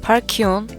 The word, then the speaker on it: Falchion: 서스 ROG 파키온 HFX라고 읽는다고 합니다.